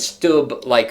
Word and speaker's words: Stubb: It's Alexander Stubb. That's how you pronounce it.